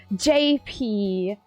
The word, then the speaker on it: JP: Whenever I read your name, in my brain it feels like I'm saying Chappie. Like I'm not pronouncing it clearly, and I'm just like, no, it's not Chappie, it's JP.